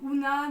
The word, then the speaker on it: Oona: en a qui me pose la question alors una donc ça s'écrit oh on a et en fait c'est